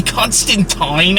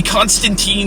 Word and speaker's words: Constantine: Now, these comics feature the character of John Constantine, or technically Constantine, I think is how it's properly pronounced, but I'm too used to the American pronunciation of the name.